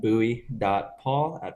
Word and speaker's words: Bui: description somewhere but yeah and so your name is spelled Bui y so you said buy.